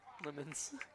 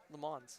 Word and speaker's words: Lemons: Lemons. You got me saying it wrong now. I mean, when I read it, it looked like it just said Le Mans.